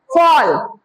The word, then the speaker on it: fall: मतलब अगर कोई वर्ड है जिसमें ए लिखा है और उसके तुरंत बाद डबल एल है तो आप उसको ऑ प्रोनाउंसिएट कर रहे हैं, और जैसे ALL ऑल हो जाता है, SMALL स्मॉल हो जाता है, CALL कॉल हो जाता है, और FALL फॉल हो जाता है।